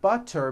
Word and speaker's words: butter: And butter becomes butter.